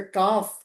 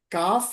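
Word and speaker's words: כף: Here value is 20 and sound is का का इसका मूल्य बेस है उच्चारण का है।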